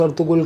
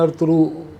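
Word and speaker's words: Ertuğrul: अंग्रेज़ी में वो लोग उसको प्रोनाउंस अर्तुगुल करते हैं, वैसे टर्किश में अर्तुरू करके वो प्रोनाउंसिएशन होती है उसकी, अर्तुरू गाजी।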